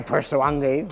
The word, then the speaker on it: Purosangue: Ferrari Purosangue.